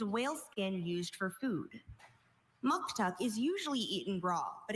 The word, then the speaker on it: muktuk: Muktuk is the only pronunciation here.